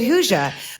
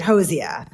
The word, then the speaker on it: Hozier: it out of my word I've always said Hoosier they were pronouncing it Hosier so I realized that I heard them talking